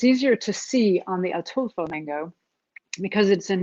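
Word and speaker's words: Ataulfo: There's another variety which is delicious called and I had to look up how to pronounce this, but it's Atulfo, the Atulfo mango, also known as honey mango, which is really, really good.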